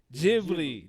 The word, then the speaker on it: Ghibli: just used to pronounce how do you pronounce it how say the name for it Ghibli there you go Studio Ghibli just dropped